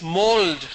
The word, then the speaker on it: mould: How Mould. do you spell it? Mould. How do you spell it? Mould, sir. M-O-U-L-D. It's mold, not mould.